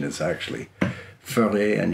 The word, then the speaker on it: Voere: So we would say that as VOERE over here, but the correct pronunciation is actually VOERE, and you sort of roll the R.